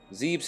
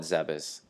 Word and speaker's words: Zebes: to my log space pirate encrypted data decoded Zebes has fallen now going back to my Super Metroid playthrough I've always pronounced it zebes since when I was a kid I'm not gonna call it zebus just because it I'm not gonna remember to